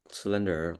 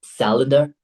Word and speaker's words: calendar: their schedules, like Google Calendar or Excel. Really, at this point, you're still pronouncing it as cylinder. Hold on. It's calendar. Calendar.